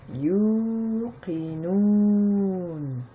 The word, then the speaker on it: يوقنون: Na, mais on ne prononce pas la dernière harakat, donc ça nous donne yuqinun.